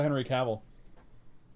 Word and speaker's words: Henry Cavill: What's a Henry Cavill?